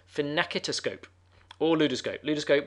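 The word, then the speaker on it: phenakistiscope: invented the fin napkin he pronounces finicky to scope all new disco luda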